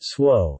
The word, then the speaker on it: Tso: general so s chicken pronounced swo is a sweet deep fried chicken dish that